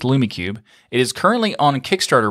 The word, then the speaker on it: LumiCube: I might have said it wrong, but I think it's LumiCube.